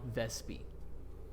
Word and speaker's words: Vespi: uh it's seen if seen uh contact Stone vespie I need to write that down homie it's